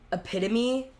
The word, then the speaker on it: epitome: like the epitome, but he said, how would you say that like phonetically? How it's spelled? Literally doesn't matter. Said it wrong. literally said it phonetically as it was spelled instead of calling it what it was.